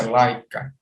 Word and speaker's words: Leica: e pronúncia lá e Calisto elétrica mais a pronúncia laica e aqui tem um lançamento em 1924 dessa